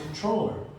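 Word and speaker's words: comptroller: the situation to the controller. This word does not look like it's pronounced controller, but that's the way it's pronounced for some reason. I don't know why people skip P when they say it.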